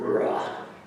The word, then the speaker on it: ruach: Also in Hebrew, there's that guttural sounding word, ruach.